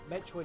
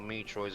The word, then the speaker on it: Metroid: With Metroid, it's only one E, so it's only a short E sounding. Yeah, because it's like a fusion of Metro and Droid, so it's Metroid.